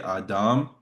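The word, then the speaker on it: אדם: It's I mean in pronunciation, if we're going to go for more Hebrew pronunciation, we would say Adam with that emphasis on the last syllable, Adam.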